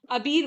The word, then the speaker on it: Abir: बात काट रहा हूं मुझे ऐसा लगता है जो इंडिया वाले हैं ना उनको प्रोनाउंस नहीं करना आता तो इंडिया के पोर्टल्स जो है ना मैं अक्सर देख रही हूं वो लोग आबेर आबेर बोल रहे हैं इसको क्योंकि हमारे हमें तो